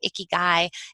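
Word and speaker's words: ikigai: again in the Japanese culture they call it a key guy it's spelled I ka GA I and that is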